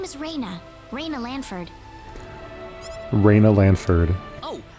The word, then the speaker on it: Reyna: Oh, and I had a dog named Reyna once. Claude C. Kinney. Rat terrier, lived to be like 18, very, very old. And we spelled it R-A-Y-N-A, but it's pronounced the same as R-E-N-A here.